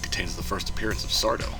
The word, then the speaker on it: Sardo: This episode is a special one, because it contains the first appearance of Sardo. Sardo. No Mr. Accent on the do.